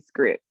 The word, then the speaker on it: Scribd: So yeah, the way that you pronounce it is actually script.